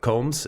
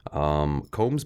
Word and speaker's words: Komes: So these beers are all from Combs. Is that how we pronounce it? Combs, yep. It's Komes.